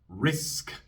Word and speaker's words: risk: Y si la palabra termina en un sonido sordo, se sopla un poco de aire. Risk, risk. La K es sorda, así que soplo un poco de aire después.